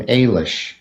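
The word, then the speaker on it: Eilis: yeah it did and the general consensus is that you say her name Ailish but no one's ever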